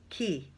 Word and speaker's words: Quay: and it looks like it's Quay, Q-U-A-Y, but I heard somebody pronounce it Key. So I don't know which it is, but I heard a few people say Key recently, so I don't know.